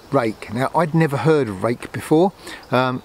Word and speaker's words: Ruike: now i'd never heard rake before it's spelt r-u-i-k-e so it's not spelt like rake but that's how it's pronounced they look very similar